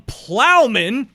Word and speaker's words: Ploughman: myself right now I went through three different pronunciations before we started recording but we have from Plowman that's it I am from Plowman cider that's uh owner and founder of Plowman